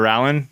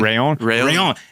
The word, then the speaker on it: Rallon: We've covered everything from events to athlete mentalities and that new Orbea Rallon. It's going to be pretty sick to see. I said it wrong. Orbea Rayon.